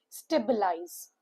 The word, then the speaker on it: stabilize: Three syllable word. stress is on the first syllable. When you see the pronunciation guide, the st word changes as stay s t a y and b i changes into b u h and lies is similar. So it is stabilize.